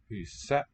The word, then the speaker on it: huset: Huset. The T is silent.